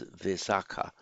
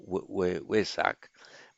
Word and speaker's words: Vesak: That's what gave its name to the month Vaishakha in Sanskrit, which becomes Vesakha in Pali, and in the Thai pronunciation Vesak or Wesak.